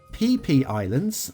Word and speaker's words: Phi Phi Islands: It's Thai, by the way. It's Phi Phi Islands, I'm not joking, Vanilla by speedtraxxdj.